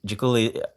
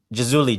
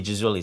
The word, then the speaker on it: Jazouli: like yeah, you know, Jaculi, he's a very good young player, 16. Did I mispronounce his name? Jazuli. Jazouli, sorry. Okay. Jazul Lee with a Z. Zed.